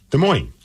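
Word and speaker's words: Des Moines: that we say it de moin with the S but then I've also heard people say no no no the s is silent so I don't know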